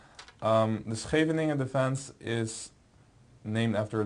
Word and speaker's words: Scheveningen: It's actually a Dutch name. It might sound a little horrible to you, but the name is Scheveningen. The Scheveningen defense is named after